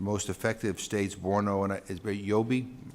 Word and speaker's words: Yobe: effective States Borno and yobi I said that am I pronouncing that correctly good Yobe I'm from Massachusetts I